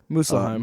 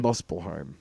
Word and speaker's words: Muspelheim: But we should go down to, Muspelheim. Muspelheim. Look how it's spelled. Just because it's a U does not mean it has to be you.